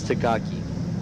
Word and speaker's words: Takaki: So Takaki, I apologize. It's Takaki.